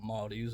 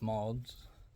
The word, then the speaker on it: Maude's: Apparently I was pronouncing it wrong, it's not Maude's, it's Maude's.